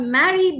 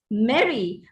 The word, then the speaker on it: merry: merry christmas merry christmas so it's not marry but it's merry both cannot be or